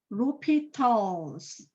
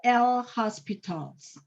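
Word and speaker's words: L'Hôpital: we read this one rupital's rule can you pronounce not the l hospitals we read these were repeatals okay so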